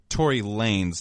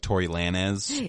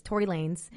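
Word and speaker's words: Tory Lanez: on yeah can I first ask so it's Tori Lanes not like Tor Lanz I thought it was Lanes that's like I feel like that's how you pronounce it in Spanish like lanis but it's Lanes Tory Lanes um I believe that's his stage name I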